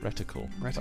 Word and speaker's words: reticle: what is this funny rectal was it all that shape reticle you say reticle sorry reticle rect umal quite the mispronunciation oh another air strike5